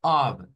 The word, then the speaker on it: of: Y otra cosa que debo de mencionar, la palabra of, así, debe de pronunciarse con una V, no con una F. Vea, of, meaning of, meaning of, meaning of.